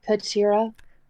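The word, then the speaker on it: Katyra: what's your name uh could sierra is it spelled like catra no i do not know that name it is spelled k-a-t-y-r-a uh high five from center it's nothing like catra kendra takes the high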